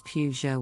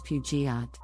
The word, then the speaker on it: Peugeot: pronunciation moving on to a French car brand Peugeot the correct pronunciation is Peugeot with the emphasis on the first syllable everyone have their own versions of the name the most common mispronunciation is pujiat next let's look at a popular French car